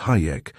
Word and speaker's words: Hajek: Fred Hajek, too, pronounced Hayek, and referred to flippantly among the student nurses as Hijack.